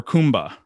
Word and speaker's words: Kumbha: So in India, Aquarius for them is Kumbh or Kumbha, depending on how you say it.